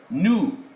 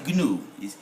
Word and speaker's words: gnu: When you go on safari, you will see these animals migrating in the Serengeti, and we call them nu, not gnu. The G is silent because it is preceding N.